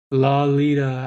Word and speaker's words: Lolita: above it number eight lolita oh la lita as in lollipop that's how it's pronounced let nevoco tell you